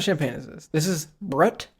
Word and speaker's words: Brut: How to pronounce Brut. Brut.